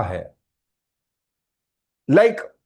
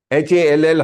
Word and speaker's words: hall: You have a very big होल. अरे इट इज हॉल. H-A-L-L, hall, not whole, W-H-O-L-E.